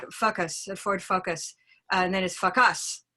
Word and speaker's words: Ford Focus: the Ford Focus and no matter what you do to that you can put the stress in the first syllable or the last syllable but if the vowel is off it's a problem no matter what and so the problem